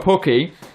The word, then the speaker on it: Pukki: And their Timo Pukki, I did say his name correctly.